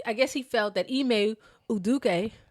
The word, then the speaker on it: Udoka: guess he felt that e uduk yeah that's a good pronunciation correct very correct okay um he uh